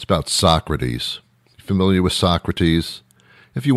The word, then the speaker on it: Socrates: it and he says so says so-crates and I'm thinking so-crates what the hell so-crates and then I realized how to direct mispronounced Socrates oh my god it's he pronounced Socrates's so kraits I laughed for like